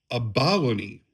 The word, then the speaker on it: abalone: The true proper way is abalony. Let's see. Yeah, you put a stress on the last half of to be abalony, but that sounds so foreign to me that I cannot wrap my mind around it.